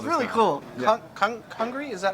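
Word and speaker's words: Congrí: Congri, is that how you say it?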